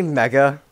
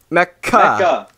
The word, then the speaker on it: Mecha: How do you say it? Mecca. It's like the Muslim place. Mecca. It's like the Muslim city.